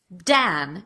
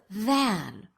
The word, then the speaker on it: than: So these speakers will say, and you're probably doing one of these two things, dan instead of than, or zen instead of then. You are most likely making one of these substitutions depending on your native language.